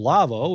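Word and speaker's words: Lawo: L Awo, that's how you spell it. L Awo. Lavo is how you say it.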